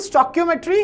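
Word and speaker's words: stoichiometry: What is chemical स्टोइकियोमेट्री, इसको pronounce कैसे करते हैं, स्टोइकियो, ठीक है, मेट्री, ठीक। तो दिस इज स्टोइकियोमेट्री।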